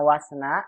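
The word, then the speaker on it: واثنا: Kenapa dibacanya wasna? Karena kata isna, lihat Ibu ya, buat semua juga umat, isna ini hamzanya hamzah wasal. Taunya hamzah wasal dari mana? Dia isna, hamzahnya berharokat, tapi tidak ada kepala ain Ibu ya.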